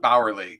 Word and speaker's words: Bauerle: It's Bauerle technically, but just works.